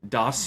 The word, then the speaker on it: DOS: And that's how you have to say it. Doss you even doss brah. I was trying to understand it in my head when I read it like how do you say this? Yeah. It could have been like German sounding or uh who or who knows. I said does in my mind I was does you even doss bro?